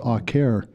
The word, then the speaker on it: Acer: didn't use the word Acer I called it Acer and he kind of smiled and he said well Acer and um later I found out that uh really the proper Latin name would be pronounced aare so maybe I was more right than he